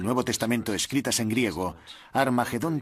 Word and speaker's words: Armagedón: De hecho, en las primeras versiones del Nuevo Testamento escritas en griego, Armagedón tiene una aspirada al principio, que significa que se pronuncia con H inicial. Por tanto, originariamente era Har Magedón y podemos pasar de Har Megido a Armagedón muy fácilmente.